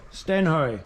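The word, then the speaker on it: Stenhøj: How do you pronounce it? Stenhoy or Stenhoy? Stenhoy.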